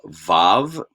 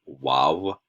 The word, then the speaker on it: vav: slightly different pronunciation um in which case you would have pronounced this letter wow possibly um that's that's fine that is that is certainly one way to pronounce it that's not how we're going to pronounce it in in this class or context okay